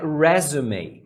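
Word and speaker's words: résumé: Só que essa palavra tem outro significado e a pronúncia é resume.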